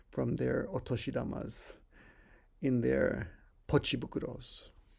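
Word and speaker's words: ポチ袋: six word which is pochi bukuro bukro means bag is usually pronounced fukuro but when you add pochi to it it it's pronounced bukuro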